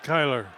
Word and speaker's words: Kyler: It's not spelled like that, but it's Keeler.